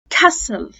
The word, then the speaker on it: castle: أول حاجة التي لما تكون عندنا في نهاية مقطع STLE، ساعتها التي أنا مش هنطقها، زي كلمة إيه؟ زي كلمة أباص، bustle، castle، gristle، hassle، nestle، pestle، wrestle، thistle، wrestle.